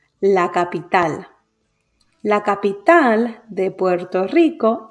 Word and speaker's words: capital: is a palabra aguda the word ends in a consonant that it is not n or s so the stress falls on the last syllable la capital la capital de puerto